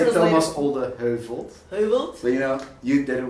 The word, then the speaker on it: Thomas Olde Heuvelt: Thomas Olde Heuvelt.